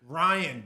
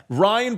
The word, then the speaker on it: Riain: Riain, but not spelled the normal way. Ryan, but how do we spell it?